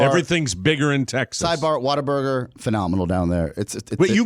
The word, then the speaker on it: Whataburger: And you're saying Whataburger? Whataburger. It's Whataburger. Whataburger. Whataburger. Spell it.